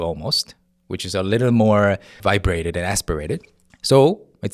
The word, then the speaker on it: 뭐: Similarly, the word for what? Mo in romanization you write it as uh m wo. So you're expecting to hear more like but you have to kind of cut the building up part. Cut it in half or cut the first I guess one third of it and then just hear it from the middle. B. So you hear B. It sounds like B wo to many untrained uh ears.